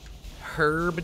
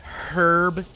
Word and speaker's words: herb: Herb, dude. Say it like that. Herb. Like, hard H.